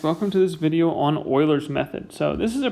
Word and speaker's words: Euler: is pronounced like it like it might be pronounced euler that's how it's spelled but it is actually pronounced like i'm doing it euler like that's how you want to pronounce euler's